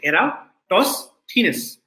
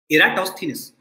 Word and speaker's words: Eratosthenes: sieve of electrostates and this is how you pronounce the name you say era toss thinness okay eratosthenes so this thief alcohol